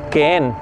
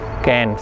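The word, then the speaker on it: Keen: Y ella era hija de la familia Kehen, se escribe K-E-E-N, Kehen, se dice King también.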